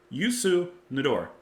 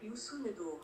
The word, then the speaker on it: Youssou N'Dour: here cuz I want to make sure I pronounced it right uh yuor hold on y Yu nador let me let me try it one more